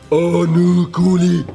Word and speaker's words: Onukwuli: Onukwuli. That is actually how you're supposed to pronounce it.